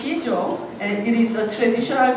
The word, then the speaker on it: Sijo: So it's pronounced Sijo, and it is a traditional Korean poetic form.